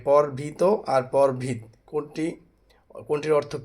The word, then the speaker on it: পরভৃত: এটার অনেকে উচ্চারণ ভুল করে যে এটাকে বলা হচ্ছে দুটোই একই রকম উচ্চারণ করে, কিন্তু আসলে উচ্চারণ হচ্ছে পরভৃত।